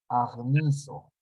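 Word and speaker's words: ἁγνίζω: Acá está la pronunciación. Agnizo.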